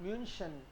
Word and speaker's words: München: म्यूनशन. München. Sure. Okay. Okay. Mu. Again half mu. München. SCH का rule और देखते हैं हम लोग. बाख, बोखुम, म्यूनशन.